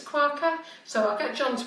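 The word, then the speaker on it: Kawka: I think it's Quacker. So I'll get John to pronounce it because he's much better than me. It's K-A-W-K-A. So K-A-W-K-A. Zoe Corker. And then Nesma Saeed Khan.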